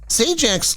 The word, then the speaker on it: Sajak: it wasn't an error prior to changing it to sjac to more accurately represent its Americanized pronunciation s Jack's last name was sdak a Polish surname that